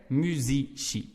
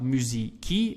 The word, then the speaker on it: musici: Musici. And then that I we would pronounce like they do in Italian. So it's not musici, it will be musici.